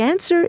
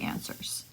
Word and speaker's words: answer: in doubt doubt and a W is omitted in answer answer nice work